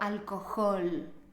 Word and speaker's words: alcohol: Hola alcohol exhausto Héctor Recuerda que en español solo pronunciamos la H cuando decimos palabras de origen extranjero Como por ejemplo handicap o cuando hablamos de Harry Potter y estos son los